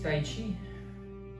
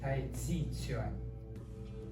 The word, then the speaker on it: Tai Chi Chuan: This Tai Chi, it's wrong pronunciation, the Americans love it, but it's different. It's Tai Chi Chuan.